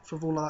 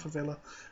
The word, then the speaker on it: Frevola: Frevola, that's how you say it, not Frevola.